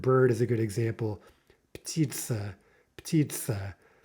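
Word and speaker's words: птица: Not a combination we're used to making, P with T. And so you might have the urge to break that up somehow and say something like petitsa, petitsa, because you're not used to making petitsa, petitsa. Again, how many syllables there? Well, two vowels, ergo two syllables.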